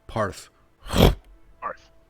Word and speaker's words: Parth: you're saying it wrong, but it's close. what is it? It's Parth. Parth.